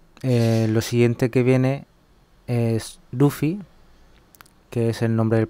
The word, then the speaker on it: Luffy: Yo he dicho Luffy, pero transcrito se escribe Luffy. En japonés hay una fila en los silabarios para la consonante R, pero no para la consonante L. La pronunciación de esa R es un poco especial. Ese sonido se representa con este fonema llamado vibrante simple lateral alveolar.